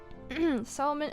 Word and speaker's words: salmon: Salmon and almond for me. What the freak? So most people don't pronounce the L.